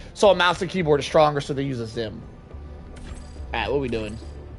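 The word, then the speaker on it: Xim: It's Zim. Zim is spelled with an X. It's X-I-M, not Z-I-M, by the way.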